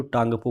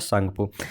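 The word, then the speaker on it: Tsangpo: कहते हैं या टांगपो, इंग्लिश में लिखें तो टी से शुरू होता है, सांगपो में टी से शुरू होता है उसका स्पेलिंग, ठीक है? तो बहुत सारे लोग को नहीं पता होता है तो टांगपो पढ़ जाते हैं, लेकिन पढ़ा जाता है सांगपो, ठीक है?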